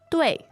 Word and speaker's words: 对: Now, fourth tone. 对.